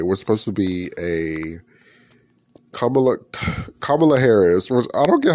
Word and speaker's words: Kamala: her name, but like when people say it wrong, I'm like, that's not her name. It's Kamala, and they call her Kamala, and I'm like, that's a whole different like person.